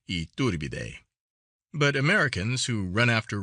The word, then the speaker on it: Iturbide: Mexico has several good hotels of their kind, and most of them equal, if they are not superior, to the Iturbide, pronounced Iturbide.